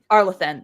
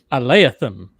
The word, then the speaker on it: Arlathan: Let me put it this way: she didn't pronounce it the way I said it, and she didn't pronounce it the way you said it. Aleatham.